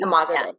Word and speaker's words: Imago Dei: Imago Dei. Imago Dei.